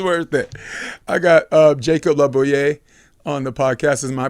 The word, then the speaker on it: LaBouliere: I got Jacob Labouay on the podcast. Am I pronouncing that correctly? It's awesome. It's Labouier, but I think the French pronunciation labouier.